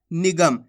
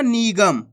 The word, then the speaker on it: निगम: मिलके बन जाएगा निगम इसी प्रकार से आपको उचार करना है कैसे निगम ऐसे नहीं पढ़ाना निगम खीच के नहीं पढ़ाना अगर खींच के पढ़ोगे तो बड़ी ई की मात्रा का उच्चारण हो जाएगा कैसे पढ़ेंगे निगम ना